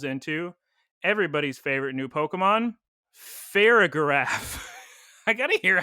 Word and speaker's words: Farigiraf: It evolves into everybody's favorite new Pokemon, Farigiraf. I gotta hear how you pronounce that, because that doesn't sound right.